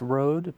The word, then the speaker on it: Rhodes: ever heard of a Rhodes Scholar before I've heard that term but he's do library yeah so it's pronounced Road but it's spelled differently are OAD so and